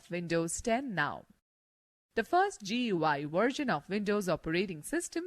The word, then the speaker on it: GUI: a graphical user interface gui pronounced as gui between a computer and